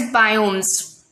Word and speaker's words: biome: Any such ecosystem is called as biomes. See, the pronunciation is biome.